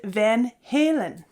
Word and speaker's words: Van Halen: had this discussion back when I first heard Van Halen and many of you said no no no no no no no the band is named Van Halen and so there was this whole dynamic discussion